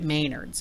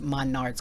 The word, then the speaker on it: Menards: called goof rings really which I got at Maynard's Menards ma nards she said pronounced monards because you know I can't pronounce it correctly